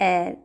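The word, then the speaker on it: heir: Great एयर, H silent, of fame, एयर means वारिस, उत्तराधिकारी।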